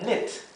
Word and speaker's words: knit: Tenemos tejer, que se dice knit. Knit. La K es muda aquí.